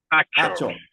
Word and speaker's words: Achor: Dale, is it Akor or Achor? I want to make sure I pronounce it. Achor. Thank you, sir.